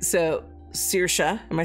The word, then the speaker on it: Saoirse: See, there's one that's like Circe and it's like totally not spelled like that. Hold on. Go ahead. Are you getting Google to help you? Saoirse? Saoirse?